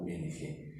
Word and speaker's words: Jung: que hay un vínculo en calcuta así se pronuncia en este apellido ing y el vínculo está dado por el inconsciente